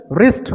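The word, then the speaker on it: wrist: रिस्ट, कलाई, W silent होगा।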